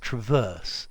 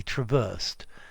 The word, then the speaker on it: traverse: The noun is stressed, traverse. He traversed. Traverse beam is stressed on the second syllable, traverse. Like the verb. I think it can have the first vowel stressed too, very probably, like the second vowel of trespass. But as a verb, it becomes a schwa as a noun.